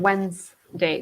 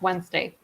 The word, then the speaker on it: Wednesday: next day you said Wednesday the D and the D is silent here the D and the e here is silent Wednesday okay so the next